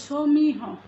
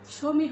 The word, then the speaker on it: সমীহ: ইকার হ আজ আর যেহেতু এখনই বললাম যে শব্দের শেষে হ থাকলে সেই হ এর প্রকারান্ত উচ্চারিত হবে তাহলে সমিহ বা উচ্চারণটি করছি আমরা সমিহ এভাবে আবার নির্বাহ ইত্যাদি এভাবে